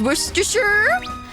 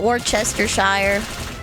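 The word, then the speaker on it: Worcestershire: You'll never get over the fact that worstersher sauce is worersher worersher. Oh, is it worersher? Rooster rooster wor sauce sure show worst shirt. See, I always called it Warchester Shire until I watched a documentary on how it was made and then they said it.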